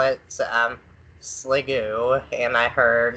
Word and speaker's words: Sliggoo: I'm a Chris and I call it um sliggoo and I heard sliggoo and now SIL do but if no further